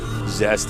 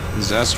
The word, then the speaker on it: Zest: get up down here zest is the best zest rhymes with best that's that guy's a